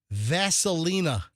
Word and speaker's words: Vaselina: She's naming the girl Vaselina. Like like Vaseline with an A. The petroleum jelly with an A at the end. Vaselina.